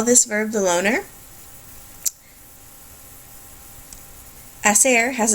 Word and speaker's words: hacer: why I might call this verb The Loner aser has its own predate tense forms thead l